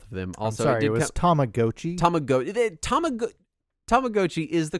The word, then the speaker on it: Tamagotchi: Tomagotchi is the correct pronunciation. It so sounded so weird. Most people say Tamagotchi, but it is technically Tamagotchi.